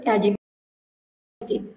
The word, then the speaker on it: অ্যাডজেক্টিভ: তৃতীয় ভাইয়ের নাম হচ্ছে, এখানে আমি উচ্চারণটা কিন্তু অ্যাডজেক্টিভ। ডি এবং জি যদি পাশাপাশি থাকে ডি এর উচ্চারণ হয় না, সেক্ষেত্রে অ্যাডজেক্টিভ হবে।